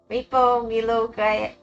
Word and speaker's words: Milo: pronounced Milo. Sorry, Milo. Milo.